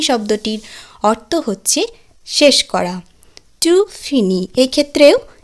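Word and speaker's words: finis: তাহলে ভার্বটি উচ্চারণ দাঁড়ালো জো ফিনি, উচ্চারণ কিন্তু একই থাকলো, অর্থাৎ আমি শেষ করি। ফিনি শব্দটির অর্থ হচ্ছে শেষ করা। টু ফিনি, এক্ষেত্রেও ই এস যুক্ত হলো, টু ফিনি অর্থাৎ তুমি শেষ করো।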